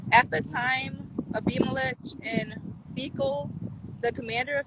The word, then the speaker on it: Abimelech: Oh, well, yesterday I said a Beamelech. Oh, Abimelech. Okay, let's go with Abimelech. That sounds better. At the time, Abimelech in Fecal, the commander of his army, Ew.